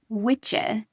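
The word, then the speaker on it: wicce: So, in old English, the word was witcher, which is spelled w i cce e, and it was meant for a woman.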